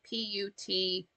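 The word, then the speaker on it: poitín: It's spelled Poteen, but spelled or but pronounced Putchine.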